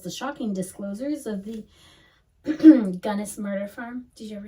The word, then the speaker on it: Gunnis: Because I think I always said it as Guinness. But it's Gunnis. That's For some how reason, he I spells recognize it as Guinness, but it could be Gunnis because it's spelled Gunnis right there.